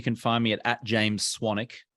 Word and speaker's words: Swanwick: find me at James swanik my last name is spelled s-w-a-n-w-i-c-k there's a silent W in there I have a podcast